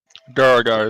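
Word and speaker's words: Duergar: Duragar is what they're called.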